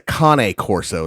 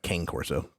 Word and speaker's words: Cane Corso: Technically, it's a Cane Corso is how they actually pronounce it. But it looks like Cane Corso, which is what a lot of people call it.